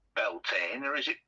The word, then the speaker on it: Bealtaine: Um, as far as I'm aware, it's pronounced Beltain, although it can be spelled different ways. All right. Okay. Yes. But as far as I know, it's pronounced Beltine.